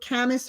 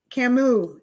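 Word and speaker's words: Camus: She says um Albert um Camas or Camas, I don't know how to say it, was a French philosopher. He she considers most of his work to be existential. Who said this? Camu. Camu is how you pronounce it.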